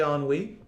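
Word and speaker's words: ennui: word on we i dare you to say on we on we there they are completed that's how the word is pronounced spelled e-n-n-u-i on wii means despair is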